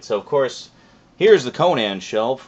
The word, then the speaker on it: Conan: of Conan the Cimmerian, or Conan, I think is the proper pronunciation, according to Mr. Howard himself.